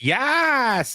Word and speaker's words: Yas: You didn't say it correctly. It's Yas Island. But if you say it like that, they all look at you funny and maybe you get on a list somewhere.